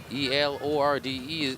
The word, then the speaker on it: Elorde: E-L-O-R-D-E is pronounced Elorde.